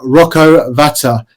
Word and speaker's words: Rocco Vata: right let's talk about our new sign in rocco Vata have I pronounced that right Connor yeah yeah yeah that's